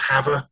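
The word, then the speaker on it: Havre: we were we're now moving to hav It's pronounced hav in Montana it's always a challenge when you're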